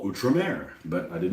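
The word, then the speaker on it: Outremer: to pronounce it I always read it at out rer let's just say it's not pronounced that way I didn't know I never heard anybody pronounce it before you know I will now call utra Mer but I did not know that all right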